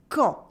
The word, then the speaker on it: quand: in l'imparfait, especially with quand. Quand means when in French. There's a silent D at the end and the U is silent as well. Quand.